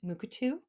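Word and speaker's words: Mukurtu: native american community here there is what is pronounced moocatu um where this particular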